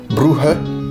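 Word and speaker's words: Brugge: D'ailleurs, la ville de Bruge qui s'écrit comme ça en flamant mais qui visiblement se prononce bruh, un truc comme ça, veut dire le pont.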